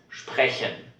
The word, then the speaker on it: sprechen: Então essa junção de letras, ela vai se pronunciar como SCHP, mas se estiver no começo da palavra.